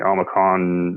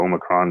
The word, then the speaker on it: Omicron: the U.S so it was very widespread the omicon variant or Omicron depending on how you say it targeting very